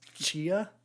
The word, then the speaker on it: Tchia: Next up was I don't know if I'm going to pronounce this right, but it's Chia, as TCHIA.